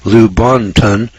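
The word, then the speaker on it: Lubaantun: Now this is spelled L-U-B-A-A-N-T-U-N. Lubantun, British Honduras.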